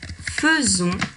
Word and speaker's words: faisons: Or, on va continuer à écrire le « f-a-i » qui est déjà là au début du mot « faire ». Mais on va bien prononcer « feu.